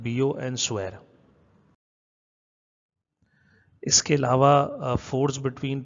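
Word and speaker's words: Biot–Savart: Biot and caveat लिखा हुआ है लेकिन इसको प्रोनाउंस करते हैं बियो एंड स्वेर।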